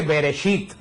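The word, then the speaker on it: בראשית: El Génesis en hebreo se dice Bereshit. Bereshit se dice que la palabra Bereshit quiere decir en el principio. Así comienza, la palabra de Dios comienza en el principio, Bereshit.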